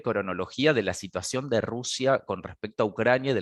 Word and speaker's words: Rus: que se hacían llamar rus la pronunciación en general es escribe rus pero la pronunciación es ross o sea un grupo de